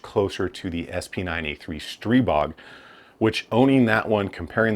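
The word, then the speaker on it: Stribog: Its real comparisons are things like AR9's, uh, the CZ Scorpion, and probably the Stry Strybog, Strebog, I think it's how you say it. Strebog, I got corrected on that.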